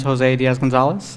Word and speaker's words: Jose Diaz Gonzalez: everyone my name is Jose Diaz Gonzalez uh it's pronounced as if there are accents but there aren't any in the actual name uh and I'm an